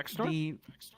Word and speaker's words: PhaxeNor: Fax? yeah, PhaxeNor? the PH is F.